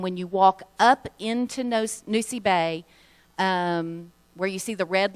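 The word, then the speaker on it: Nosy Be: They pronounce it Nosy Bay.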